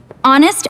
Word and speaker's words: honest: Many people say the H at the start, but the H is silent.